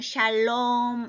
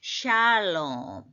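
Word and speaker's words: שלום: 되는 단어로서 우리가 아는 우리 보통 샬롬 이러면서 에다 힘을 주는데 발음기호 물론 뜻은 평화 데 그렇게 하면 안 되겠 어떻게 해야 돼 이제 제대로 배우면 샬롬 샬 샬롬 샬롬 샤에 샤를 길게 해야 돼 샬롬 샬롬 이렇게 된다는 거 그다음 다시 또 나왔죠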